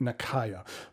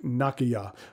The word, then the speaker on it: Nakaya: most westerners pronounce it nakaya but i understand that technically the correct way is more like nakaya with the a sounding the same throughout it's one of those